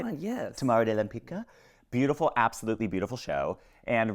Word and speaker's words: Tamara de Lempicka: Tamara de Lempicka.